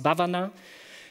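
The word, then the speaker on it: भावना: comes from the Sanskrit word which which is pronounced Bhuvana and Bhuvana actually means cultivating it's like cultivating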